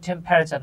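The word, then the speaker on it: temperature: হ্যাঁ, আমরা অনেকে এটাকে টেম্পারেচার উচ্চারণ করি, এটা উচ্চারণ কিন্তু টেম্পারেচার না। হ্যাঁ, এই যে ইটা সাইলেন্ট থাকবে, উচ্চারণ হবে টেম্পারেচার।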